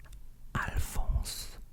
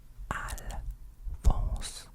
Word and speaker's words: Alphonse: So this one here, there's also a nasal sound as well, but it's basically Alphonse. Alphonse. Alphonse.